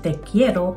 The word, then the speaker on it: te quiero: Ang sasabihin mo ay teekiero o mahal kita. It also means I want you. Yung letters na Q UI ay pino-pronounce na key sa Espanyol.